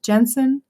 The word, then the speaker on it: Jensen: How do you pronounce his name? Jensen.